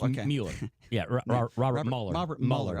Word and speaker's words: Mueller: I always pronounce his name wrong. Is it Mueller? It's okay. Mueller.